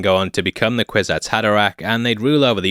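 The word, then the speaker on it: Kwisatz Haderach: up mispronouncing that but I double checked it this time another to form the quiz ax had Iraq a lady Jessica was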